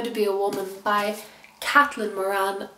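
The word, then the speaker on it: Caitlin: be a Woman by kathyn Moran um it's spelled kitlyn but I'm pretty sure she pronounces it kathyn but if I'm wrong wrong do correct me I bought this in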